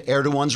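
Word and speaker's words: Erdoğan: merkel recently bowed to erdogan's request that a german comedian be prosecuted for insulting the turkish president personally i'd have told erdogan to add stuffed the g is silent trigger warning i'm andrew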